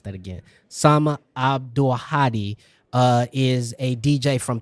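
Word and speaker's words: Abdulhadi: I've never seen in person like um Sama Abdullahi or I want to pronounce that again. Sama Abdulahadi uh is a DJ from Palestine and she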